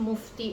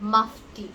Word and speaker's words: Mufti: people mispronounce it, and it is not called Mufti, it is called Mufti. It is Mufti.